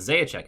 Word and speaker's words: Zajac: I have no idea if it's Simon or not, but Zajac is correct.